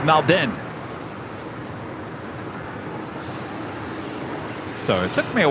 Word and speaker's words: Melbourne: a while because I used to say it Melbourne then Rudy said no no no no it's Malden so it took me a while certainly not